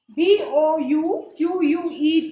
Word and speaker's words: bouquet: BOUQUET is pronounced as bouquet.